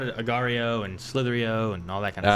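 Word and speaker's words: Slither.io: Slitherio.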